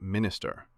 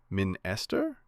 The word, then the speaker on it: minister: What is that symbol in the word minister? Do we say minster? Is it e? But no, no, no, it's not e. That's the schwa sound. The softest vowel in English.